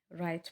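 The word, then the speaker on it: write: School में H silent है, give में गिव में ई, नाइफ में के, राइट में डब्ल्यू, हाई में जी और स्विच में टी साइलेंट है।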